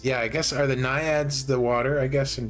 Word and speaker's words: naiad: Did I spell that wrong? What's a naiad?